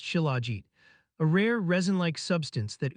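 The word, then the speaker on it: shilajit: The remarkable superfood we're discussing today is called chiligit, pronounced chilagit, a rare resin-like substance that oozes from cracks in the Himalayan rocks during summer months.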